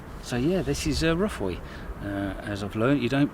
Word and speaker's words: Ruffaud: So yeah, this is Ruffaud. As I've learned, you don't pronounce a D. Typical English man, I thought it would be Ruffaud, but it's Ruffaud.